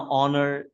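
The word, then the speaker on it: honour: इसमें H silent है इसी तरह यहां ऑनर इसमें भी एच साइलेंट है।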